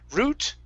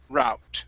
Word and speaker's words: route: Okay, so root, route. Try that. Route, route. Good. Either one is okay. In my family, we typically say route. It really doesn't matter. Really doesn't matter. I've heard both.